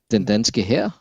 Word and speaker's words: Den danske hær: Den danske hær. Yeah, that's what I wanted. That makes sense. That sounds like Danish war. It's like hair in German.